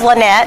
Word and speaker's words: Lynette: to me well give the people the correct pronunciation but it is Lynette so you got the name correct but my